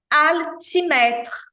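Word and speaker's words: aliment: tem som de u o l em francês seis jamais tem som de u então é esse som que a gente faz com a língua aa levando a ponta da língua ao céu da boca aletra nós já vimos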